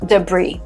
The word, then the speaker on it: debris: When explosion happens, what is left after this is called debris. Again, this word comes from French. And that will be a very good explanation why the S in the end is not pronounced.